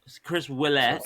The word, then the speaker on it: Willette: ol olette Chris wette Chris Willette like a like like like a w right you're it sounds